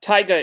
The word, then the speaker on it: Taiga: so that might be the answer here uh tyga is i'll just spell it in the chat just so that everyone